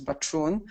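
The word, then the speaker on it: Bačun: Okay, so as you probably know, my name is Mirna Bachun, and Sebastian did a great job of pronouncing my last name, which is Bachun.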